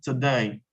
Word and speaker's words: today: I asked for one American teacher and see pronounced so it OH Soto now I'm going to use transfer today to day because of my stress yeah so